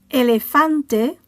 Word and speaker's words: elefante: Elefante ends with a vowel, so the stress falls on the penultimate syllable.